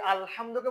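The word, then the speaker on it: الحمد: আমি দুইটা লিখলাম একটা হচ্ছে আমরা পড়িয়ে এটা উচ্চারণ হবে আলহামদু আর এখন বর্তমানে অনেকজন ভুল করে কি এরকম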